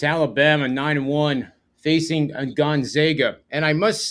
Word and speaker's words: Gonzaga: just natural with me to say Gonzaga and then I had Gonzaga fans coming up to me and saying you know you're saying it wrong and I got it